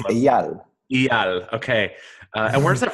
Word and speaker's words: Eyal: Did I pronounce that properly? Almost. It's Almost. Eyal.